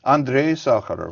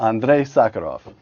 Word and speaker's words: Andrei Sakharov: Pronounce it for me, Yuri. Sakharov, yes. The first name, though. Andrei Sakharov. Andrei Sakharov.